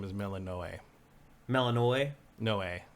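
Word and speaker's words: Melinoë: I'm going to guess her name is Melanoe. Melanoe? Noe. Like Melanoe? Yeah, usually in ancient Greek stuff, you pronounce each vowel separately. You're right, actually. And it's it is Melinoe.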